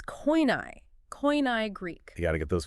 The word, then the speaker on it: Koine: I had to gently remind him that, well, in standard academic settings, we use the Erasmian pronunciation. It's Koine Greek.